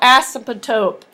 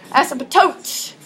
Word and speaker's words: asymptote: say it right so say it fast and melt it all together as a tote okay a horizontal line